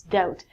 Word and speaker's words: doubt: next one is doubt it looks like TT it's not the Batu it's doubt when you doubt something it